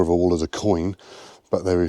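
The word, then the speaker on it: quoin: a wall is a coin. But they said something I didn't know, and that is that coin is spelled Q-U-I-O-N rather than C-I-O-N, O-I-N.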